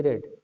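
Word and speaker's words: read: रीड का देखो 3 form है, रीड, रेड, रेड। Pronunciation same होता है, वो सॉरी स्पेलिंग सेम होती है लेकिन उच्चारण अलग है, तो इसलिए मैं रेड कह रहा हूँ। तो ये भी सीखो भाई, रीड, रेड, रेड। Spelling will be same but the pronunciation will be different.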